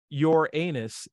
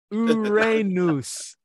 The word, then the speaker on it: Uranus: about that one and it's not your anus it's Uranus Accent on the raw same as in Arun raw so yeah you're wrong